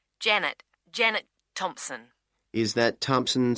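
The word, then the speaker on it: Thomson: Is that Thompson spelled with a P?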